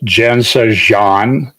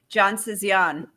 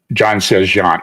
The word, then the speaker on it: Jansezian: no it's pretty good well what would you say John Sayan John Sayan okay see I don't have the I say it like a midwesterner would say it it it took me